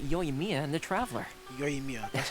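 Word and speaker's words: Yoimiya: done it without yo Mia and the traveler yo Mia that's how you pronounce it okay you're turning out to be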